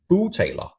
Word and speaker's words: bugtaler: It's actually Bugtaler means ventriloquist in Danish. So I'll just say it's to pronounce it in the right language, it's Bugtaler. So it means actually a boo means your stomach, and tailor means speaker.